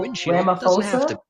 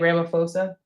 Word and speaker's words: Ramaphosa: His name is President Cyril Ramaphosa. I think that's how you say it, Ramaphosa.